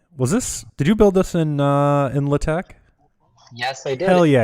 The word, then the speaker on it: LaTeX: Did you build this in LaTeX?